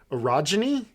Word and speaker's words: orogeny: has been discovered to have orogeny is that what how we're pronouncing this that's how you say it yeah okay o r o